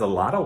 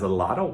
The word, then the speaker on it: a lot of: This bottle has a lot of water. This bottle has a lot of water.